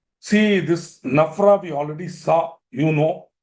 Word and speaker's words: NFRA: Now why I'm saying such companies which are covered by Nafra also should inform Nafra.